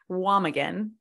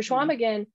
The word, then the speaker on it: Chequamegon: So I with Schwamigan, I'm going to probably say that wrong at some point during this podcast.